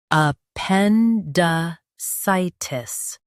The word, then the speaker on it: appendicitis: U.S. says sigh, UK says sith.